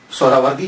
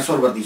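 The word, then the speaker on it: سہروردی: اصل میں یہ سہراوردی یا تو نسبتی ہے تو لفظ جو ہے وہ سہراورد ہے, سہراورد سین کے اوپر پیش پہلی ہا یہ ہا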